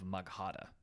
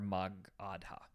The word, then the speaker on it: Magadha: around the kingdom of magada okay um or or ar magadha okay I think is a better pronunciation ironically enough this Empire